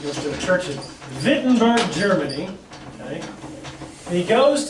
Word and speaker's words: Wittenberg: And he's in a town in Germany called Wittenberg. It's actually spelled with a W, but it's pronounced with like a V. He goes to a church in Wittenberg, Germany.